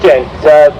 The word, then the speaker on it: Gent: Gent, it's pronounced Gent.